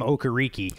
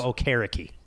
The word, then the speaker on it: Okereke: Yes, he wanted to go to a more traditional African pronunciation last year, because I think all of us were calling him Okereke. So, to your point, it is now Okereke.